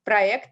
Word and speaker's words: проект: And I actually noticed that проект here in Russian, that's a kind of exception. So it's pronounced проект actually, as if, so there is no y in between, but something like боец, fighter would be a good example.